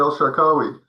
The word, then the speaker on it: El Shakawi: Is this Dr. El Shakawi? Oh, yeah. That's Well, thank you, Gil. That's uh that's perfect. You're people who uh pronounce my name correctly.